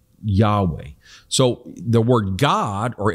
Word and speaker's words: Yahweh: we call in the in the king james version jehovah or probably more accurately in hebrew was pronounced yahweh now ancient hebrew didn't have vowels so we don't know the exact ancient pronunciation but the consonants yhwh also called the tetragrammaton the four sacred letters which as we say yahweh so the word god